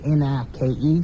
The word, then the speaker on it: Nike: are made by Nike that's Nike uh-uh look n-i-k-e spells night it's pronounced Nike well how do you pronounce l-i-k-e